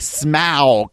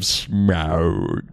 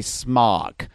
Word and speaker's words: Smaug: They at least normalize the pronunciation of Smaug. I know. So, being a resident of LA for even a short time, I was trained to say smog.